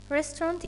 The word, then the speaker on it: restaurant: in a restaurant repeat after me restaurant restaurant restaurant is a noun what I mean by restaurant